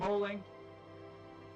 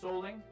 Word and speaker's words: Soelling: I believe his name is actually pronounced Soelling.